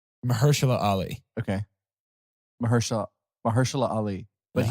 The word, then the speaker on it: Mahershala Ali: I believe it's Mahershala Ali.